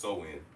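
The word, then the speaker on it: Samhain: and the United Kingdom like most ancient holidays samayin which it says is pronounced so in but I'm gonna pronounce it the way I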